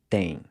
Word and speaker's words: têm: Tem and tem. So these two words are pronounced the same way.